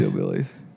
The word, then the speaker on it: DylBillies: Dill Billies. Dill Billies. Dill It is Billies. Dill- Hillbillies because it rhymes with Hillbillies.